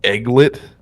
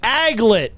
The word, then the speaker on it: aglet: With a buzzer because you said it wrong, just like I would have. It's the aglet.